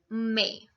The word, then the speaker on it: mai: May is pronounced as May in French also, but the spellings are different. It's M-A-I. May.